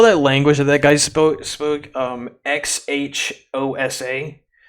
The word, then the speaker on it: Xhosa: You saw that language that guy spoke, XHOSA? The X is pronounced with like a click.